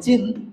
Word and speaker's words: চিহ্ন: পরের বর্ণের উচ্চারণ আগে হয় আর আগের বর্ণের উচ্চারণ পরে হয়।